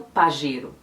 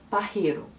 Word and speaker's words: Pajero: passado literalmente o espanhol e se j tem um som de um r do português bem levinho então ficaria eles não falariam pajero eles falariam parreiro o problema de falar